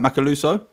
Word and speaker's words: Macaluso: Did I pronounce that right? Macaluso?